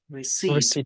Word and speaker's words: receipt: I think that clothes without receipt do not able Receipt, Receipt. not receipt. People do not have an ability to return to a shop. Be careful, слово чек-квитанция произносится receipt.